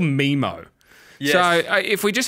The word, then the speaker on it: Memmo: It's pronounced Memmo. Yeah. You can log on to Memmo and pay $21 and you're going to get a message from Flanners.